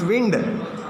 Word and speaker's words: wind: So wind energy is It's not wine, it's wind. Wind, water. Wind, water, and sun. Yes, yes. Wind. It's not. It should be pronounced as wind.